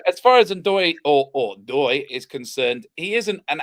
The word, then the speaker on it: Ndoye: You don't pronounce the N. It's just Doy.